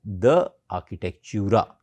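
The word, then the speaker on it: De Architectura: So, you can pronounce it like this, The Architectura. The in French means of.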